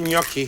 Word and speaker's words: gnocchi: we're going to make gnocchi gnocchi is spelled GN o c CH I I'm a very good